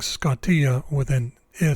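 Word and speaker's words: σκοτία: way of pronouncing Iota this is a case where it's pronounced e instead of I try saying scottia with an i sound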